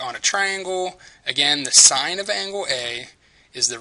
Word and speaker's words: sine: one is the sign function function so it's pronounce sign s NE usually when you see it abbreviated